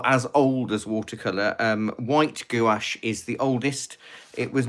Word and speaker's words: gouache: gouache because I love gouache, and that's how I say it. It's the standard English pronunciation of the word gouache, but in other countries you may call it gouache or gouache. But it's gouache here in the UK as a standardized one.